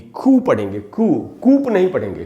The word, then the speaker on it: coup: से हटा दे कोई किसी को, खुद गद्दी पर बैठ जाए, ये जो पूरा प्रोसेस है इसको कू कहते हैं। और इसकी स्पेलिंग है COUP और इसमें P साइलेंट है, इसलिए इसको बोलेंगे कू।